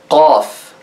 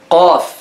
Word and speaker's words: قاف: To pronounce it correctly, touch the soft palate, which is the fleshy part in the roof of your mouth. Touch it with the back part of your tongue, like this.